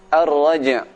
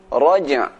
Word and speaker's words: الرَّجْعِ: Ar-raj', suara jim dibaca dengan kuat qalqalahnya. وَالسَّمَاءِ ذَاتِ الرَّجْعِ. Raj'.